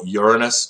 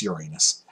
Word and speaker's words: Uranus: personally um you'll hear pros they call it Uranus no it's not it's Uranus that's how it's pronounced people just astronomers just try to not